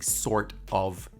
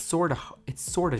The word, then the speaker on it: sorta: Instead of saying sort of difficult, you say it's sorta difficult.